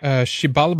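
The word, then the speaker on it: Xibalba: Chibalba, I think it's called. It's spelled with an X, but I might be mistaken that for the kingdom of death and rebirth.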